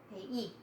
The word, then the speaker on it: 회의: 보통 두 번째 글자, 세 번째 글자에 나올 때는 의로 발음하기가 힘들어서 회의입니다. 이로 보통 발음합니다.